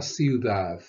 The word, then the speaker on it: ciudad: La ciudad. La ciudad. La ciudad. Notice the pronunciation of the D's as soft TH's.